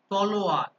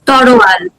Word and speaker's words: তলোয়ার: আমি ধরলাম যে খুব ঘন ঘন যেটা হয় তলোয়ার, এটাকে সাধারণভাবে উচ্চারণ কি রকম করে শোনে? কি হতে পারে? তরোয়াল।